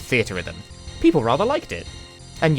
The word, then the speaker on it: Theatrhythm: funny little game called theater Rhythm people rather liked it and yes while we're at it that is how you're supposed to pronounce it it's a portmanteau a theater in Rhythm that's why the menus